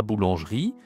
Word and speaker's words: boulanger: En français, on dit e, on ne dit pas r.